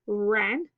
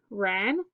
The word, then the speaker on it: Wren: That's great, said Wren. Our parade will be lots of fun. Okay, next page we have silent W in the word wren and in the word wrapped.